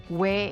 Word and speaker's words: 왜: 왜 is a combination of O and 에. These sounds you are pronouncing O and 에 together, but with a W sound in front. Sound similar to the 왜 in wet.